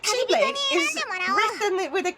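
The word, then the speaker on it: χ-blade: It's pronounced like Keyblade. It's pronounced oh. Oh. So, X-Blade or like Chi-Blade is written with a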